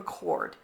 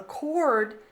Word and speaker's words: chord: That's the concept of a chord. And again, kind of like the word chemistry, the H is silent.